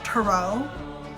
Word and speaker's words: tarot: will just mention is a lot of spiritual people that I talk to will pronounce it Taro I just won't I don't care if